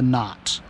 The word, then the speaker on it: knot: make a cannot listen i know the k is silent but why do you